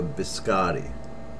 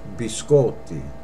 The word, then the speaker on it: biscotti: sculpted yeah I hear a lot of Americans say can I have a biscotti incorrect be sculpted and that means cookies plural be sculpted not biscotti okay b-school the next word